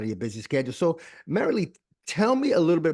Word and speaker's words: Marilee: girl did I get that right it's actually marily marily oh my God yeah I'm leaving this guys